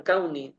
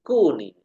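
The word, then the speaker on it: كوني: misalkan kayak wa Kuni kita membacanya bukan kauni ya tapi Kuni kalau kaun nanti dia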